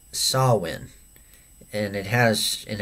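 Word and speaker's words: Samhain: Druid F festival called sawin and it has in it's spelled weird called s it's spelled s m h a i n yeah but it's not Sam Hayne It's s win so very weird and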